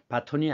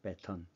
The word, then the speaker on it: 배턴: 연결하지 않습니까 그래서 뭐 우리가 보통 얘기할 때 발음할 때 바톤 터치 이렇게 얘기하는데 바톤이 아니고 표준을 는 배입니다 배턴 그래서 이어 달리기가 주이고